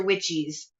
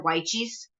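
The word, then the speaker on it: Wyche's: is it messy now i'm starting to pronounce it like like jess um i think that luke uh that my gardener has the right pronunciation on that it's dr weichi's uh let's see dr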